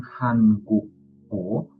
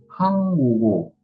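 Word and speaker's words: 한국어: Jadi bukan hangguk-o, tapi hanggugo. Hanggugo. G-nya naik ke bagian si iyengnya atau bagian vokalnya mengisi. Jadi Hanggugo.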